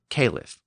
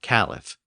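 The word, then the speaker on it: caliph: got a new leader known as a kff or cff either pronunciation is acceptable in English I'll just use caleff going forward the new caleff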